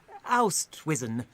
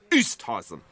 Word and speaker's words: Oosthuizen: Seef Oustwizen. It's pronounced Seef Oosthuizen. Zeef, craven apologies.